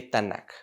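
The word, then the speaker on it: Tanakh: para que vean cuál es el significado de tanaka estándar dice el la tdt ahora n de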